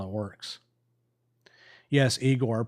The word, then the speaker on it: Igor: Yes, Eigor pronounced like in Young Frankenstein.